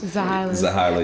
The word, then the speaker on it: Zehailah: The name is not hard to pronounce. Once you say it 4 or 5 times, Zehailah. I guess Zehailah. Yeah, because the H.